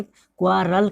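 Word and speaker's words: quarrel: तो यहाँ पे देखिए इसको क्या पढ़ना है, क्वारल।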